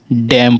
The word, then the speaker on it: damn: और अगला हमारा DAMN, डैम पढ़ा रहा है, ठीक है, डैम, डॉम नहीं, डैम का उच्चारण हो रहा है।